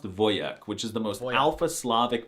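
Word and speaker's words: wojak: They can be manly, like the word for soldier in Polish, which is wjack. I'm not even kidding. The wjack meme and the word are Polish, but it's actually pronounced voyek, which is the most alphasavic masculine thing I've heard all month.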